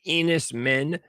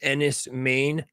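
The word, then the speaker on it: Enys Men: So, it looks like Enis men, but it's pronounced Enis Maine. I think it's Cornish.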